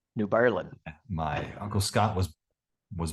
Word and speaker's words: New Berlin: have family that yes it's and it's not pronounced New Berlin it's pronounced New Berlin New Berlin my Uncle Scott was was birthed in New